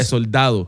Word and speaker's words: Soldado: Yeah, Soldado. Oh, I fucking pronounced it right.